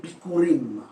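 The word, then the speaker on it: bikkourim: En hébreu, quand on parle des prémices, cela s'est traduit par le mot bikurim. Bikurim, ça s'écrit comme B-I-K-K-O-U-R-I-M.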